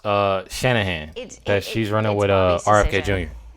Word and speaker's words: Shanahan: So her name is pronounced Shanahan.